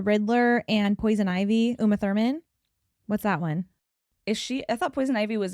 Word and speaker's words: Thurman: Is that how you say her name? Yeah, Uma Thurman. I don't know why I was like Therma.